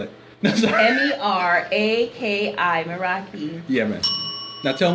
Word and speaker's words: Meraki: year was or is hashtag uh Meraki okay spell it m-e-r-a-k-i Meraki yeah man now tell them what it